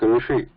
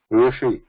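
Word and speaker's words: ऋषि: When we say Rishi, so we should not pronounce it as Rishi or Rishi. Yeah. Rishi. This English, by writing it in English, it has destroyed our Ucharanam also. We in English we write it Rishi, so everybody is calling it Rishi now. Not Rishi. Yeah. It is not Rishi.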